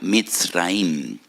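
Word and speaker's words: מצרים: porque que la palabra Egipto en hebreo se pronuncia mit raim y en hebreo hay dos MS dos letras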